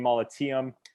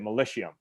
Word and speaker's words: Molitium: We found the name Molitium. And like I was explaining to you, being Canadian, a lot of people would have pronounced it Militium.